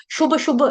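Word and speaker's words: शुभाशुभ: और दोनों जो भ हैं वो बकरी वाले नहीं हैं, वो दोनों भ, भालू, भोचाल, भोकाल, भयंकर, भय, भयभीत, भ भालू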